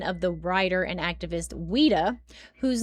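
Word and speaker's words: Ouida: Some researchers believe the image may have been of the writer and activist Weda whose name is spelled o ui da.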